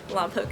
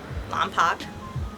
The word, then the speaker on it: Lompoc: I feel like most people think Lompoc is pronounced Lompoc, but it's Lompoc.